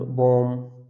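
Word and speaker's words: balm: ठीक है, अगर आपको एम से पहले अगर एल दिख रहा है वहाँ पर ही हम एल को साइलेंट रखेंगे, जैसे कॉम, पास, एंड, बॉम।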